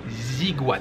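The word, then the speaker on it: Aiguades: Donc oui, le programme aujourd'hui les amis, c'est d'abord les Ziguades. Je me suis renseigné, normalement ça se prononce comme ça s'écrit A-I-G-U-A-D-E-S.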